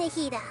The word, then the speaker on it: Nahida: Oh yeah, I'm Nahida. Nahida, oh, that's her pronunciation.